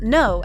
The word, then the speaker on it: 노: In her Bubble conversation, aespa Winter's Gyeongsangdo dialect uses '노' (pronounced as “no”) at the end of some of her messages.